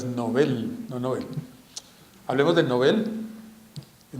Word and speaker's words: Nobel: ahora entre otras cosas la pronunciación correcta es novel no hablemos del nobel